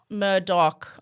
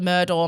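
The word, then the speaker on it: Murdaugh: The redheads who are also called Murdoch established that it is Murdoch. I thought it was much funner when it was the Murdoor.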